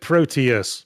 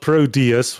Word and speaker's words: Proteus: one I would have said Proteus pronouncing the T as the English accent does not produs with a d That's cuz uh lazy